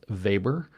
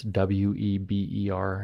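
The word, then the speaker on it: Weber: Fields particularly the sociology of Max vber uh that's web R if you're not speaking German and the psychology of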